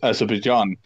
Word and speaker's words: Azerbaijan: It's pronounced Azerbaijan.